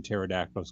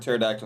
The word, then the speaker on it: pterodactyl: pterodact and pterodactyl the the word pterodactyl has a p in it and the p is silent also our mayor just